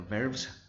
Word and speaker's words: valves: to verify that the valves, 영어로는 이제 밸브가 아니고 발브라고 하죠. V니까 V가 있으니까 V 이렇게 발음을 하셔야 되고 perform reliably in the particular service conditions.